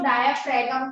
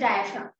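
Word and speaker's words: diaphragm: है डायफ्राम, है ना, कई बच्चे इसको डायफ्रेगम कहते हैं, इट इज नॉट डायफ्रेगम, इसमें जी साइलेंट है, इट इज डायफ्राम।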